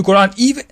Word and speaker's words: Quran: We claim to believe that the Quran, however you want to pronounce it, I prefer to pronounce it as Quran because that is the dialect of the people of Yemen, and the Prophet praised the people of Yemen many times.